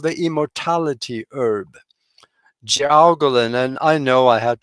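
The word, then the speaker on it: jiaogulan: Gowolin. And I know I had to spell that one.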